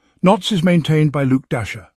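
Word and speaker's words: Dashjr: Knots is maintained by Luke Dasher. Yes, pronounced like Santa's reindeer.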